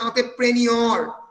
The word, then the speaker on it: entrepreneur: তারপরেরটাতে businessman and এন্টারপ্রেনিউর, French word ENTREPRENEUR, উচ্চারণটা হচ্ছে এন্টারপ্রেনিউর।